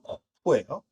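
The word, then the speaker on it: קוף: 발음은 코프예요.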